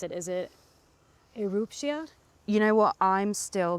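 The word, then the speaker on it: Erupcja: Help me pronounce it. Is it Eruptia? You know what? I'm still getting it wrong. You're close. Erupcia.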